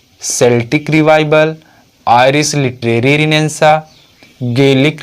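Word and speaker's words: Celtic: तो आयरलैंड में इस रिनेंसा को एक अन्य नाम से जाना गया है सेल्टिक रिवाइवल, या फिर कुछ लोग इसका प्रोनाउंसिएशन केल्टिक रिवाइवल भी करते हैं।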